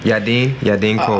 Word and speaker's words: Yadin Kol: All right, welcome to Moonshine and Music, Yadin Kol. Did I pronounce that correct? Yeah, man. Yadin Kol.